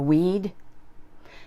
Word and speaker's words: we'd: it'd for the plurals we plus had is we'd it sounds like the undesirable plant in your garden a we'd and finally they plus